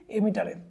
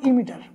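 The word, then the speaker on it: emitter: মেশানো হয় সবচেয়ে বেশি এমিটারে এটা আসলে এমিটার হবে না এটার উচ্চারণটা হবে ইমিটার এক কেজি ভরের পাথর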